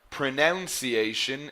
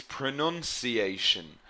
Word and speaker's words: pronunciation: So, for example, it is not pronunciation, it's pronunciation.